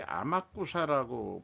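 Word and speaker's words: 天草: 그런데 이제 요 천초시라인데 이게 아마쿠사라고 보통 발음하는 걸로 제가 기억하는데 여기를 왜 기억하냐 그러면은 천주교 그 성지 그 만들어진 데가 있어서 머리털 나고 처음 한번 여기를 가본 적이 있습니다.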